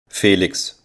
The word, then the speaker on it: Felix: in European countries and the German pronunciation for it is like this Felix Harry is the ninth